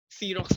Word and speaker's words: Xerox: Xerox pa nga dapat yung tamang bigkas dun eh. Xerox. Kasi galing siya from a company.